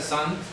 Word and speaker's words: Saint: Saint, o sea, se pronuncia Sant, Sant Jacob en francés, entonces quedó Santiago.